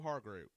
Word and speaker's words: Hargrave: I like the pickup of Hargrave. How do you say it? Hargraves or Hargroves? Hargrave.